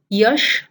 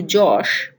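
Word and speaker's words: যশ: But if the ear is at the start of a word, then the sound of ear changes to ja. So here are some examples. Again, like the last time, the red alphabets are where the sounds are changing. So yagna becomes joggo, yagna to joggo, yash to josh, yug to jug, yuyutsu to jujutsu.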